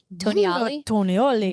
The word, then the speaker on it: Tonioli: Tonioli.